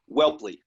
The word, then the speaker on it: Whelpley: It's Whelpley. It's a hard name to pronounce, but my dad would be disappointed if I didn't correct you on the pronunciation. It's okay. Whelpley.